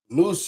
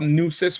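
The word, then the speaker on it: Nueces: So I would look up look up Nus River and then go south and see if you find a Tampo region. Okay. All right. N E Wis N EU. It's like deuces.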